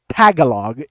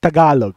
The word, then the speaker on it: Tagalog: remembering big jiggly panda a well-known YouTuber for pronouncing it Tagalog it's Tagalog man a little tidbit for you panda if